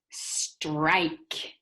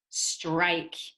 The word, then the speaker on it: strike: this word is strike strike in this word we have two vowels i and e this e makes i say its own name so we say the word strike and the e is silent strike in this picture